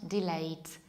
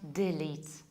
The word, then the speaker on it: delete: this is not delayed this is not deletes the correct pronunciation is delete in British accent and delete an American accent delete delete and a way to delete the first a is short death and the second one is long lead you pushes delete